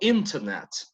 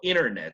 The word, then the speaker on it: internet: Pero los de Estados Unidos, Americans, they tend to drop the T after the letter N. Tienden a no pronunciar la T después de una N. Por ejemplo, internet, para un británico, internet.